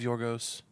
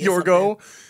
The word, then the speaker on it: Yorgos: Soft Y or Gos.